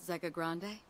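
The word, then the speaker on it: Zegagrande: Doesn't that sound like the perfect place to learn more about Zega Grande? Oh, that's how you pronounce it.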